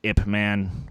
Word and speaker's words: Ip Man: Ip Man would be correct. I know it sounds weird, but it's the right pronunciation.